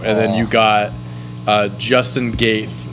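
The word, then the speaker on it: Gaethje: Usman versus Covington 2, and then you got Justin Gaeth. I think that's Gaeth. I think the J is silent there.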